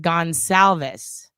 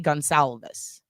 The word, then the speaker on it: Goncalves: Okay, that's how you say it. Gonsalves. All right, perfect. Thank you. Because I've always, is it Goncalves? Goncalves? I've heard people pronounce it totally differently, but I like saying things correctly.